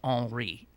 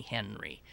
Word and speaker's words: Henri: Oh, and then P.S., because I asked you, it's officially pronounced Henri. But most people call me Henry.